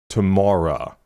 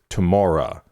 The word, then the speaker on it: TOMORA: Today, we are getting into, I'm assuming it's pronounced TOMORA, because this is Aurora and Tom Rowlands from the Chemical Brothers, their project together. So Aurora and Tom, I'm assuming is TOMORA.